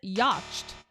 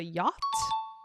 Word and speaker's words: yacht: was Dro drought not Dro another one is yach it was a yacht yacht and then last but not least a